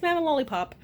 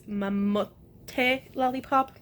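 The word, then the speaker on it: Mamotte! Lollipop: It's Mama Lollipop. Or, oh my god, I just finished saying that I was pronouncing it wrong. It's Mamote Lollipop, whatever.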